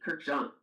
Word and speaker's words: Kurkdjian: But it is Maison Francis Kurkdjian, Paris. This one is, it does give you like a French pronunciation.